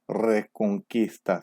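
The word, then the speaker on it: Reconquista: 일단 첫 번째 레콩키스타라고 되어 있는데, 레콩키스타 스페인어 제대로 발음하면 레콩키스타. 예, 혀를 좀 굴려줘야 되죠.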